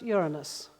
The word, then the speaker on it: Uranus: fathered Venus and the Titans and it is pronounced Uranus.